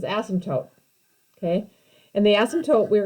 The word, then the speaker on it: asymptote: talk about this is the way you pronounce this is asymptote okay and the asymptote